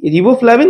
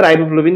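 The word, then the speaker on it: riboflavin: রাইবোফ্লোবিন নামে পরিচিত দেখো এখানে কি রিবোফ্লাবিন বা রাইবোফ্লোবিন বলতে পারো উচ্চারণ বিভিন্ন সময় বিভিন্ন রকম হয় তো এটা কি ভিটামিন বিটু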